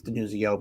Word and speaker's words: DiNuzzo: It's DiNuzzo, but it's spelled DiNuzzo on Twitter.